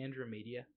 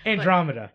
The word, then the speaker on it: Andromeda: Also, did you just say Andrew Media? Andrew Media? Am I pronouncing that incorrectly?